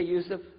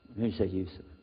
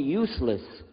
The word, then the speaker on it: Yusuf: my name is Yusuf do you say Yusuf Yusuf you're very good I wish you'd teach my wife she keeps mispronouncing it she calls me useless from the left now